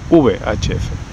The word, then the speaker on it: VHF: Bueno, los españoles pronunciarán VHF.